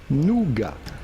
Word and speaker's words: nougat: a french word now how do you go about pronouncing it in french it would be nougat okay french what's it